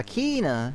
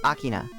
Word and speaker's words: Akina: Yeah, Akina is how most people pronounce it. Which is close, but it's Akina. Like, if you pronounce it in Japanese, they don't draw out the I's like that unless there's two I sounds. So it's Akina, rather than Akina.